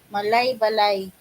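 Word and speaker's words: Malaybalay: Malay Balay. That's how you pronounce it.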